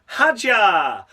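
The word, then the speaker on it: Hadjar: That's right, I'm able to say it correctly because we had no fucking David Croft this weekend. We had Harry Benjamin once again doing a sterling job, able to pronounce the names of the drivers correctly.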